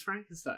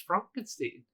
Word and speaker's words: Frankenstein: Frankenstein. He's like, it's Frankenstein. He's like, they told me it was Frankenstein. And he's like, no. He's like, it's Frankenstein.